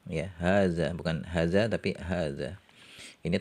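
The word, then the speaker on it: هذا: yang dekat e Muzakar hadza hadani haulai dekat muannas Hadi hatani haulai ya di sini huruf han-nya meskipun tertulis pendek harakatnya tapi dibacanya panjang ya hadza Bukan hadza tapi hadza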